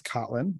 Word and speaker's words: Kotlin: two presentations here uh it is kotlin um generally how it's pronounced um and the first